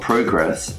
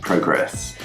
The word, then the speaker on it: progress: we're going to be talking about how to pronounce words that are both nouns and verbs for example of progress and progress first you need to make sure that you